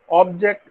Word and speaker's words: object: level object right but to indicate that obj ect is a verb we put stress on the second syllable and it is object so object and object